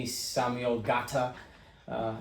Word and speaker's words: Ngata: my name is samuel gata uh i have an n on there everybody says nagata the end is silent uh so um i